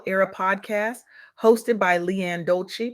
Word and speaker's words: Dolce: Welcome to the soft girl era podcast hosted by Leanne Dolce, pronounced doulce like sweet softness whispered in French.